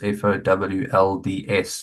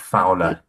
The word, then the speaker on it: Fowlds: And then his surname is Folds, Fowlds, not Fowler, as it's spelled there.